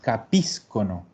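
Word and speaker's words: capiscono: Y aquí sí sabemos dónde carga el acento, en la I. Íscono. Por lo tanto, loro capíscono.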